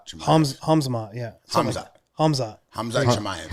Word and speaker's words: Hamzat: following and he's really good sorry sorry guys pronounce his name for me again hmat chamay hamz Chay hamzat yeah ham hamz hamz Chay hamz chamay yeah